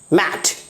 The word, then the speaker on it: mate: जैसे ही हमने इसे ई ऐड कर दिया, इस वर्ड के आगे अगर हमने ई ऐड कर दिया तो इसका प्रोनाउंसिएशन क्या हो गया, मेट।